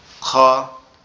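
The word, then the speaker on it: خ: Opposite, অর্থাৎ আমাদের এই যে কণ্ঠনালীর শুরুর থেকে না হয়ে শুরুর অপোজিট, অর্থাৎ কণ্ঠনালীর শেষ অংশ থেকে উচ্চারণ হবে। কিরকম ভাবে? আওয়াজটা মনে হবে যে গালের ভিতর থেকে আসতেছে খ, খ এরকম ভাবে, ঠিক আছে?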